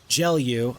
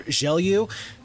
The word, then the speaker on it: Gelu: Right there is one of them, and this announcer kind of pronounced it as Gelu a little bit more, and then the other one I've heard it spoken aloud is more Gelu.